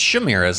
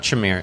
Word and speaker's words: Chimera: It's Shimiras, not Chimera.